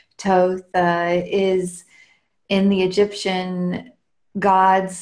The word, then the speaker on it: Thoth: connection with him yeah so Thoth or toast many people say his name in different ways I learned Thoth and then when he started coming through and the divine transmissions he said Toth is in the Egyptian